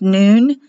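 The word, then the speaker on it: נון: Here's the noon spelled N-U-N, but it's pronounced noon.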